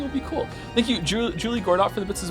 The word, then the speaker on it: Juli: Since we're in the mood for correcting pronunciations, let me drop the fact that both of you are pronouncing Julie wrong. It's Spanish. It's Juli, like Juli.